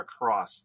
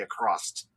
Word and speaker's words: across: who someone said notice they said the word across, they say acrossed.